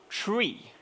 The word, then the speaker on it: trie: And he invented the term tree, spelled T-R-I-E, pronounced like tree, T-R-E-E, tree, which is a normal data structure.